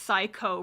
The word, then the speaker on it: 315: 315 Productions which is of course pronounced psycho Productions whoa I believe based on